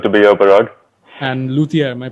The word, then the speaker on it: luthier: you it's good to be here barack and luthier am i pronouncing that right yep that's absolutely right awesome